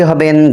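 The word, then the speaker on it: حاء: হা হা গলার মাঝখান থেকে উচ্চারণ হবে হা।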